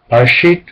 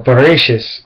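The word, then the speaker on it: בראשית: Barashit or Bereshis, and it depends on whether it's Ashkenazi or Sephardic Jewish pronunciation, because the T in it or Barashit could be Bereshis.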